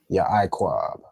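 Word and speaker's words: יעקב: I guess just the way you say it, it almost joined together, but they would actually be separate. Okay, so Slacky. Ya Iquab. Okay. Ya Iquab.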